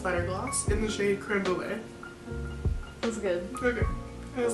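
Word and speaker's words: crème brûlée: Creme brulee.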